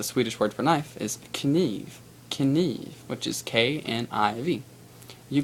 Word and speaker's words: kniv: But basically, the Swedish word for knife is kniv.